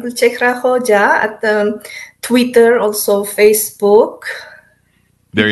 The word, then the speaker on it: Gulchehra Hoja: And give me the full pronunciation of your name as it is. Gulchehra Hoja.